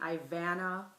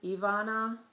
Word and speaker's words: Ivana: pronounced correctly in school the teachers called me Ian um Ivana it really is Ivana um but Ivan was my the one I hated the worst and so um I